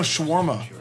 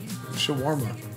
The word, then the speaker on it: shawarma: sorry it's a just reaction it doesn't know Shawarma wait what'd you say wait why do you say it like that like what shawarma Shawarma yeah Arabic saying the correct way I'm